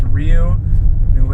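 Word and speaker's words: Rio Nuevo: noo R yeah but I know how you guys pronounce it but it's actually a Spanish word it's Rio noo AA River nobody knows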